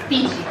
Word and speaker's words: pici: Pici.